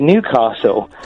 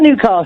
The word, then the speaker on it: Newcastle: I was you mentioned Newcastle earlier yes I've just moved up here and I was calling it Newcastle and I got told off for it cuz it's not Newcastle it's Newcastle Newcastle yeah yeah I got